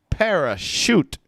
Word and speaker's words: parachute: right uh bella tracy parachute shoot shoot shoot yeah and the stress is going to be at the beginning parachute parachutes yeah hannah